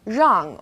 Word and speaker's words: rang: We also have R as in rang or rou. It's quite similar to the R sound in run, but the R is a little softer. So try moving your tongue more to the back of your mouth. Rang, rou.